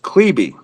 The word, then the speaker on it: Klebe: This His is a name, lot of, for the record, for everybody that sees Richard Klebe on the page, his name is pronounced Klebe.